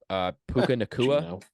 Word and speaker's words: Puka Nacua: Puka Nacua, is that how you say his name?